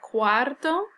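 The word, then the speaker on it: cuarto: your spelling ofto and here the pronunciation quto versus the number four which is Quatro Soto all right now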